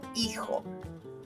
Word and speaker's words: hijo: Hijo, a son. Silent H at play in this one. Notice. Hijo.